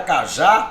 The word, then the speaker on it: cajá: A palavra cajá, olha, é um dissílabo, é um termo que tem 2 sílabas. Perceba, a sílaba tônica é a sílaba, é a última, né?